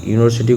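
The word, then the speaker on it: university: यूनिवर्सिटी देखि यूनिवर्सिटी यूनिवर्सिटी यूनिवर्सिटी को हम प्रोनाउंस करेंगे तो य आएगा वैसे यूनिवर्सिटी तो इसमें य आ रहा तो क्या लगना चाहिए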